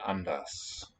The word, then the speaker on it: anders: The UN also will be reduced. Anders, with the vocalized R.